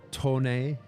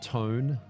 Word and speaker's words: TONE: By the way, it's pronounced uh Tone, not Tone.